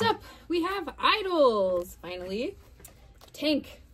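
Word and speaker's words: Tangk: Tank, the word pronounced tank with a whiff of the G, began as an onomatopoeic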